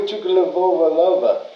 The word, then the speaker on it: Tagovailoa: Oh, and what about Tua Tagovailoa?